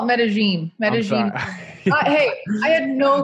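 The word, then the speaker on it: Medellín: So the locals call it Medellin.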